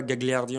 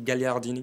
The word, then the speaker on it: Gagliardini: Mais ouais, c'est vrai que Skriniar et Gagliardini ont ramené beaucoup plus de stabilité. Gagliardini au poste de numéro 6. Je peux le dire qu'en italien, on ne dit pas Gagliardini, on dit Gagliardini.